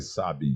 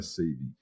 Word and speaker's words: Sabin: A pronúncia certa é Sabin, gente, não é Sabin.